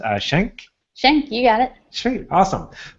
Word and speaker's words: Schenck: And I didn't even ask how the last name is pronounced. Schenck? Schenck, you got it.